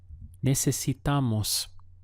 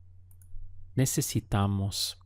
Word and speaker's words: Necesitamos: Necesitamos. It's quite a lot of syllables in there. Ne, se, si, tamos. Necesitamos.